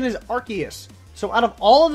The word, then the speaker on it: Arceus: special one I was referring to the correct pronunciation is Arceus so out of all of the pronunciations you've